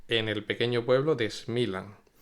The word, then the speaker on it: Smiljan: Pues bien, nos ponemos en contexto geográfico e histórico y nos vamos hasta Smilan, que se pronuncia así, pero se escribe Smiljan, que es un pequeño